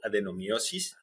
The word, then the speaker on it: adenomyosis: And we're going to talk about an issue that's called adenomiosis. Did I pronounce it correctly, doctor?